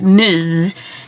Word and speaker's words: Ms: do Ms period which is pronounced Miz um and that can stand in for Miss or misses so that's your kind